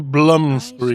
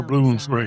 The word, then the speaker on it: Bloomsbury: Pronounc Blumsbury instead of Bloomsbury. your work. I think that's the correct pronunciation for Bloomsbury at Bedford Square in the heart of the city.